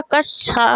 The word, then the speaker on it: कक्षा: तो यहाँ पर कक्षा शब्द का शुद्ध उच्चारण हो जाएगा कक्षा। क्या हो जाएगा, कक्षा हो जाएगा, तो क्योंकि वो सा से मिलके बना है ना, सा से मिलके बना है इसलिए।